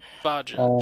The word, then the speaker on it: Vaja: Vaja, just like it's spelled. You just got to ignore a little bit of it.